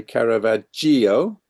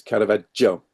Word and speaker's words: Caravaggio: English speakers to say Caravaggio. That's not how we pronounce it. It's Caravaggio. Ah, So think of Joe as in the name, Caravaggio.